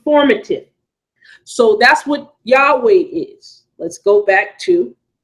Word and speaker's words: Yahweh: not take Asaph or matin so that's what Yahweh is let's go back to let's go back to the word document there this is why I was saying Yahweh is pronounced as such let's go back up